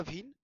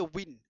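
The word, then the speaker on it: Wien: Analyse করে বিজ্ঞানী ভিন বাংলাতে নামটা ভিন কিন্তু ইংরেজিতে হয়েছে উইন। ঠিক আছে? ভিন উচ্চারণ করব ভিন।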